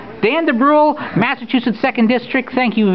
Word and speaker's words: Dubrule: I've been called worse but it's it's it's pronounced the bru Dan de Bru Massachusetts second district thank you very much for